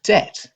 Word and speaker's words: debt: For example, the word debt gained a B because it comes from the Latin word debitum, even though the B is never pronounced in English.